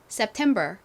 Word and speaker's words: September: 자 발음 따라해 보세요 September September 좋습니다이 단어는이 템 부분에 강세가 있어요 한 번 더 해볼까요